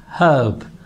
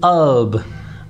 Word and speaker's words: herb: British, they say herb, but Americans, they omit the first sound. They say herb, herb. So H here is not pronounced in American English.